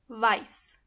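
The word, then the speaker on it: weiß: And make sure you are pronouncing the correctly. Exactly. White means vice.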